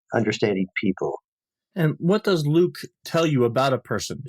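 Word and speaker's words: LIWC: L IWC and I we pronounce it Luke and the Luke program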